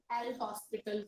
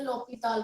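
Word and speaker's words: L'Hôpital: Now next is द एल हॉस्पिटल rule, that is द लॉपिताल rule. Actually pronunciation इसकी लॉपिताल rule है।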